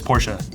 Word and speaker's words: Porsche: It's Porsche.